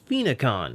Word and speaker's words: Phoenixon: back to web diver this is phenicon which I'm using the actual pronunciation in the anime to give that name